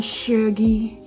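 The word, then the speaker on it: Chergui: Serge Shaggy Serge Shaggy y'all if you don't say it like that when you are saying Serge L when you're saying Shaggy Shaggy if you don't say it like that you're definitely not saying it right I don't care where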